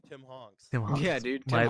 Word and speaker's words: Tim Hanks: It was like, oh yeah, it's Tim Hanks now. It's like, okay, I'll take that. Why you keep saying his name wrong? It's Tim Honks.